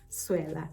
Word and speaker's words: Sewela: are asking, oh hey, Sewela, is this your name? And I think I tried to correct my teacher once. I was like, no, ma'am, my name isn't Sewela, it's actually Sewela.